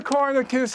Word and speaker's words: Conricus: Corniculus asks the question Why should we It's Corniculus. The N before the R.